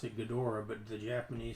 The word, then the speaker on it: Ghidorah: Because the Japanese pronounce it Ghidra. Ghidra. That makes sense. Americans correctly pronounce it Ghidorah, but the Japanese pronounce it Ghidra.